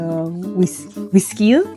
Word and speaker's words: güisquil: All right, I need the carrot, the potatoes, and the güisquil. All right, I can do that. How do you say that again? Is that right? Güisquil, yeah. Güisquil? Like whiskey.